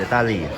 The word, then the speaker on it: ต้าหลี่: ต้าลี่ แล้ว นะ ครับ สรุป มัน อ่าน ว่า ต้าลี่ หรือ ต้าหลี่ ต้าหลี่ ต้า ตา ต้าหลี่ อ่าน ว่า ตาี ตา ตา จะ